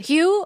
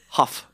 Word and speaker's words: Hough: It sounds like a cough. It's like. Actually, cough. It's spelled the same way. There you go. With the H. With the H. Hough.